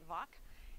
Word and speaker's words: Vock: time our pastor was father wa vock wack but we pronounce it vac and he led the